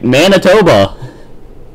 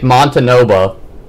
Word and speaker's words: Manitoba: Have I been saying it wrong for years? What, Mom? Manitoba? Manitoba, that's right? Yep. Oh. Okay. I thought they were just trolling me. Okay, Manitoba. Overtime 1 begins. Score is still tied 2-2. Let me write that down. Manitoba. I've been saying it wrong for years. I've been calling it Montanoba.